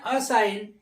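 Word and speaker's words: assign: भी साइलेंट ऐसे ही A double S आई जी एन इसको पढ़ते हैं अस साइन इसमें जी साइलेंट हो गया क्योंकि देखिए एन के पहले आया है आगे देखेंगे बी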